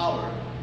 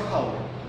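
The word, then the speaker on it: hour: यहां पर देखिए यहां पर बोलते हैं हम इसको आवर, ओ यू आर आवर, इट्स नॉट हावर, right, यहां पर एच साइलेंट है।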